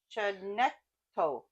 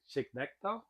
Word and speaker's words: Chignecto: Cape Chinecto. How do you say it? Chignecto.